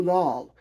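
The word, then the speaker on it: Lahl: work here under his pen name of Lou Lal, and Lal is spelled L-A-H-L.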